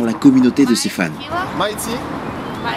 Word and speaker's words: Mighty: Mighty, like English, Mighty, M-I-G-H-T-Y, Killa, K-I-L-A. Mighty, le Y se prononce Y en anglais.